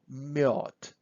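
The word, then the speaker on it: мёд: then we have to we just put two dots about a and we say miod so this is honey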